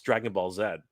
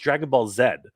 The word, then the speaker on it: Dragon Ball Z: but look it up if you look up in Japanese how they pronounce it it's pronounced Dragon Ball Zed uh just like it